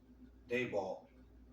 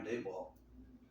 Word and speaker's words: Daboll: They got the Giants, and the Giants got Brian Daboll. I believe that's how you pronounce his name. They got Brian Daboll as a coach, and